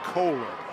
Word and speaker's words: Kohler: Talked to that young man's parents before the game, and they said it's pronounced Kohler.